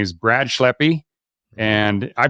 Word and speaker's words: Schleppi: a fantastic guest today his name is Brad schleppy and I pronounce that right right yeah okay man I